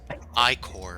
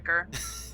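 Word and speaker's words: ichor: I also refuse to accept I-core. It's like, yeah, no, that's wrong. It's Definitely Ica. Icker. it's Icker. Stupid dictionary.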